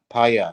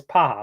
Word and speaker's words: Paja: Paya is from.